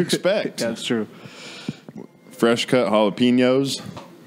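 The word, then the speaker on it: jalapeño: Fresh cut jalapenos. How do you say jalapeno?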